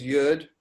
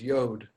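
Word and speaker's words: יוד: is the yod which you might know as yud i learned it as yud and then as an adult learning i've learned uh i learned at hebrew university ulpan that the correct pronunciation of the letter is yod and so i would think that they probably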